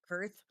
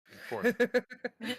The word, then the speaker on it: Korth: Yes. Kurth? Korth. Korth. I spell things weird. I don't blame you for mispronouncing.